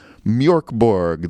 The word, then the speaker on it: Mörk Borg: I do understand that the umlauts over the O are not just heavy metal umlauts, but they do in fact affect the pronunciation, making it closer to Mörk Borg, though I sound really pretentious saying it that way, so I'm not going to do it, even if it is correct.